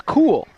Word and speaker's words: Cole: in Lane six and Ryan Cole or cool I believe it is in lane two one of my former students and I had asked him numerous times how to pronounce it and he said it's cool it's cool and I go okay